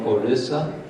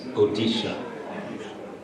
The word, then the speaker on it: Odisha: Used to be called Orissa. That was the British pronunciation. Now they've changed it to the original, and the name of the state is Odisha.